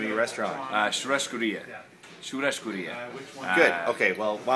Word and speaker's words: Churrascaria: Okay, second mystery, how do you pronounce the name of your restaurant? Churrascaria.